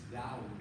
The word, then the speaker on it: Dawood: The name David is Dawood in Hebrew.